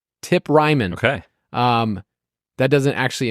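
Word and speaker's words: Tip Reiman: will have your boy tip Ryman I made sure I looked up the pronunciation tip Ryman okay um that doesn't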